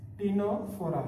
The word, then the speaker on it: Ctenophora: Then here टीनोफोरा. Here C is silent, here C is also silent.